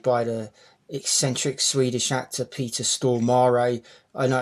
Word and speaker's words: Peter Stormare: in this played by the eccentric Swedish actor Peter Stormare. I know it's pronounced like that because I've heard him say it.